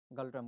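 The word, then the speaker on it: Ngultrum: হবো option B থিমপু আর currency কোন চলে গালট্রাম চলে চলে এনজি ইউ এল টি আর ইউ এম যেটা এনোপ্রাসার হয় কিন্তু উচ্চারণ গালট্রাম বলি কয় আরো আপনাকে জানি গালট্রাম আরো ইন্ডিয়ান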